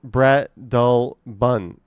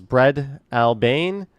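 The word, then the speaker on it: Breadalbane: In Toronto, Bredelbin is pronounced Bread Albin. Common mispronunciations: Bread Albane, Bread Albane. It follows a Scottish pronunciation where Albane becomes Albin.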